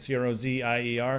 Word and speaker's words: Crozier: Crozier, is that how you say it? C-R-O-Z-I-E-R, Crozier.